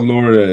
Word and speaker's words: Laurier: Wilfred Laurier, yeah.